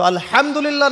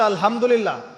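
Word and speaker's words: الحمد لله: আলহামদুলিল্লাহ ভালো আছি তো আলহামদুলিল্লাহ না বলে সে বলেছে আলহামদুলিল্লাহ তো ওই যে হা এর উচ্চারণ পরিবর্তন হয়ে গেছে এই কারণে অর্থ পরিবর্তন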